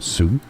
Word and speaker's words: suzerainty: All right, so let's break it down. Suzerainty. Suzerainty. Stress on the first.